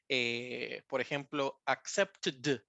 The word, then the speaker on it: accepted: Dated, no, es id la terminación. Como que pronunciáramos toda la sílaba como id, accepted, counted.